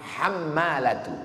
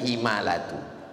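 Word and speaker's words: حمالة: Al-hammalatu, cara membacanya bi fathil muhmalah, hammalatu, bukan himalatu.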